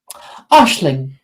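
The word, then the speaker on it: Aisling: and she is going to say mayy Ashling I like it which is a Irish name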